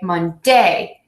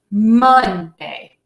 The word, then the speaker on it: Monday: Please keep in mind that you are going to stress word syllable number 1 in the days of the week, and you want to make that a little louder, a little longer, and a little higher than the other syllable.